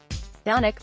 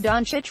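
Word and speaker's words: Dončić: not afford to botch donek pronounced Don Cheech was the reigning MVP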